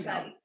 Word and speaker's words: scythe: It's how you pronounce the word I know. Scythe.